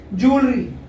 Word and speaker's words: jewellery: इसका जो सही प्रोनाउंसिएशन है ज्वेलरी।